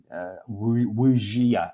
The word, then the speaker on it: wuxia: Tiger, Hidden Dragon type wuxia, I think it's pronounced, wuxi action.